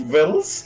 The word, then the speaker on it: victuals: such victuals as it's pronounced VI what that's pronounced vs yes I what I looked this up and